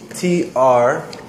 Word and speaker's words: troll: On the internet, has anyone ever heard the term troll, internet troll, T-R-O-L-L? The pronunciation is maybe a little bit hard for Korean speakers, R and L combined.